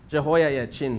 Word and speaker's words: Jehoiakim: Jehoiakim. But yeah, this H is silent. So Jehoiakim, okay?